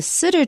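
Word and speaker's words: sidr: tree okay this is the sitter tree and it's spelled s-i-d-r you can see that it comes from Arabic there's no vowel in front of the r s i d r we would put an e there in English s-i-d-e-r or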